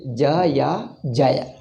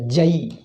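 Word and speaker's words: जय: you may say jaya but some people pronounce it as a jai jai jai ram jai jai krishna but this jai is not there this is an artificially by pronunciation defect by an accent which people change it but this jay is not there you can't say so or if hindi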